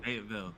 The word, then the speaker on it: Fayetteville: How do you pronounce that? I've never known. Fayetteville.